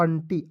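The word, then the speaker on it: aunty: रहता है ठीक है तो देखिएगा ए और यू है तो इसको यू को साइलेंट कीजिएगा ए एन से होता है अन होता है ठीक है ए और एन का प्रयोग करेंगे यू को साइलेंट रखेंगे क्या हो जाएगा अन और टी वाई को लिखेंगे दोस्तों टी ए यू एन टी वाई क्या पढ़ेंगे दोस्तों अंटी अंटी मींस क्या होता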